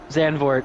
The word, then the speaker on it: Zandvoort: xand for it's got It's got two o's though there should be an oo right it should be an ooh sound I mean if you were to pronounce it in native tongue they probably roll that o a little bit more but xanor is the you know well adopted well understood name I see it and